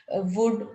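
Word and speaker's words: would: जैसे हम शुड कुड वुड ये वर्ड यूज करते हैं तो इसमें एल साइलेंट होता है तो हम वुड को वुड नहीं पढ़ते हैं शुल्ड नहीं पढ़ते हैं कुड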